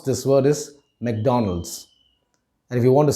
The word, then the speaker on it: McDonald's: it is mcdonald's many of us might wrongly pronounce it as mcdonald's the right way to pronounce this word is mcdonald's and if you want to sound more american